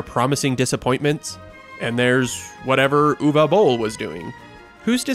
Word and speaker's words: Uwe Boll: My name is UweBoll, and you pronounce it Uwe Boll, and not Uwe or Evie.